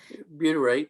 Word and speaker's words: butyrate: complete there was more butyrate am i saying it right butyrate that's correct yeah yeah there was more